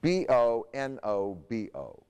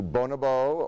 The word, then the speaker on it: bonobo: There are two ways of pronouncing the name. It's B-O-N-O-B-O. You can do bonobo or bonobo. I like bonobo, actually.